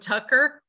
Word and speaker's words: Tucker: His name is David Tucker. Rhymes with fucker.